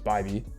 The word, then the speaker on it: Bybee: I used to say his name is BB. I thought it was BB for some reason, but it's Bybee. I learned that recently.